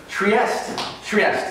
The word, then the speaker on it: Trieste: Trieste. Yes. Saying it right? That's really good. Like the northeastern city in Italy. Yes, exactly.